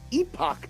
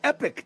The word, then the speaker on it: Epoch: It's spelt Epoch Times, but the way to pronounce it, right, is Epoch Times. I want to make sure I get it right. Yeah, both are correct. Epoch Times, American way. Epoch Times, the Canadian way.